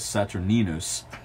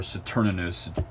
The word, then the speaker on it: Saturninus: guy named Lucius Apuleius Saturninus, or Saturninus, a couple different ways to pronounce that name.